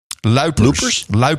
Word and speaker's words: Luipers: How do you pronounce her last name? Luipers.